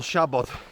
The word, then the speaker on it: Siabod: up the hill but yeah Shabad how to pronounce it first of all well it's spell s a b o d MO shabot Mo just means bare or bald in Welsh